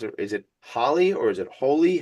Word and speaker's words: Holi: Is it Holly or is it Holy? How do you pronounce this? Holy. Holy.